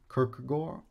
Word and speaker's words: Kierkegaard: a brief way uh kirkerart um in danish his name sounds more like kirk or kirk gore kirk i'm going to